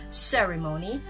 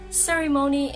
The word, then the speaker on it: ceremony: because it should be ceremony. Well, ceremony is the American pronunciation and ceremony, that is how the British say it.